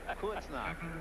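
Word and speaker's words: Bad Kreuznach: I hit the point that I want you to pronounce it. Kurznach.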